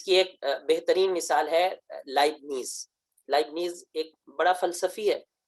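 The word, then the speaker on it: Leibniz: لائبنیز کا اصل تلفظ کے اندر ٹے کی آواز معمولی سی موجود ہے، لائبٹ نیز، یہ اس کی آواز کے اندر اثر پایا جاتا ہے، معمولی سی ٹے کی آواز آتی ہے.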